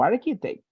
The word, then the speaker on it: architect: stomach chemistry, similar to architect. Many combinations in English, letter C, when you talk about letter C, when you talk about spelling, letter C and H, they have the pronunciation K, right?